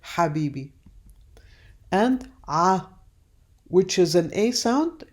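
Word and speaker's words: حبيبي: ha which is like an H sound but that is pronounced from deep down your throat like the word Habibi and ah which is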